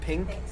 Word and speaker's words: PNK: DRV Pink? Pink Stadium, but it's spelled a little weird. So it'll say It's DRV PNK Stadium.